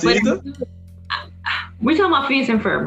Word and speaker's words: Phineas and Ferb: Help me out if I pronounce this wrong. Phoebus and Fiber. Phineas and Ferb.